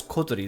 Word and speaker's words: Kotori: the dormitory there was kotori she all country I know yes coterie that's how you pronounce it she was dressed in